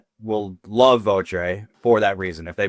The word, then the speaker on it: Votre: It is pronounced vote, I believe, in French. Votre. So if you are French, there's the correction there.